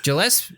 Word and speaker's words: Gillespie: Gillespie. What the fuck? It's a hard G.